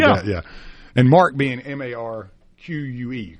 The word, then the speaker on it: marque: And marque being M-A-R-Q-U-E, correct?